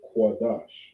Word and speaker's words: Qadash: And then here we say Qadash, all right? This symbol right here, this character makes a Qua sound. This makes a Da sound, and this makes a Shah, right?